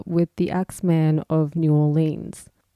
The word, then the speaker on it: New Orleans: man of new orleans i know i'm sounding very australian when i pronounce that my friend abby tried to teach me to say it the american way new orleans but it's a hard habit to break i'll do my best